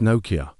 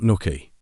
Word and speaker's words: Nokia: First of all, despite being a Finnish company, they're actually pronounced Nokia, not Nookie.